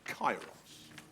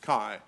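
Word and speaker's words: kairos: This is the term chyros. Chyros. And if you're fuddled about how to spell that, it's Ki Ai. K A I R O S. Kyros.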